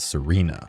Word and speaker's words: sirena: both Italian and Spanish, although I also really like how it still makes sense even when pronounced as Serena, being phonetically similar to the word serene.